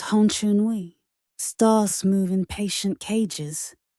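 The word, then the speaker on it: Honcheonui: He builds the Honchonui, rings of bronze like orbits, pronounced Honchonui.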